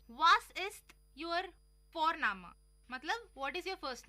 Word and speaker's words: Vorname: और हम यहाँ पे फोरनामा प्रोनाउंस करते हैं बट लिखते हैं उसको VORNAME। ओके, तो वो हम इंग्लिश के अनुसार प्रोनाउंस करेंगे तो बनेगा वॉरनेम, बट नो, इट्स फोरनामा।